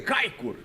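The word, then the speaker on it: Çaykur: mas no anterior que foi contra o Kaikur aqui, ó, eh também pela primeira divisão da Turquia, repita pronúncia, gostei. Kaikur, ele jogou partida inteirinha, 85 minutos praticamente.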